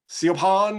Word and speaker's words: Siobhan: And then so I said, no, it's Siobhan. It's like, that's not Siobhan. I don't spell well, and I wouldn't even spell it that way.